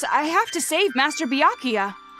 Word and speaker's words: Byakuya: I have to save Master Byakuya. Right. Byakuya, that's how you say it, not Byakuya.